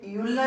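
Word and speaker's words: Euler: इसे यूलर नाम के साइंटिस्ट ने डेवलप किया था।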